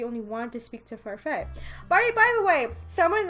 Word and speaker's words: Parfait: she has told me it's pronounced Parfait, so no T at the end, and I'm